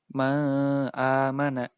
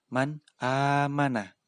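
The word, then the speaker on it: مَنْ آمَنَ: Begitu juga tidak boleh dibaca ma amana, tidak boleh. Harus dibaca jelas man amana.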